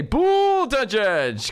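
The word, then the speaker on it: Buttigieg: way key names about I like to say boule de judge cuz they say Count Chocula that's great I think pronouncing anybody's name like Count Chocula fantast and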